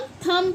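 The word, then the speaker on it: thumb: इसे हम थंब पढ़ते हैं। थंब थंब नहीं बोलते।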